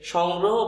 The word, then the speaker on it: সংগ্রহ: তাহলে ধন্যবাদ এই হচ্ছে ধন্যবাদের সঠিক উচ্চারণ, ধন্যবাদ। তারপরে আছে সংগ্রহ। আমরা বলছি যে সংগ্রহ বানানে এই যে স আছে, এই শটা কোন স হবে, এই শটা তালব্য হয়ে যাবে।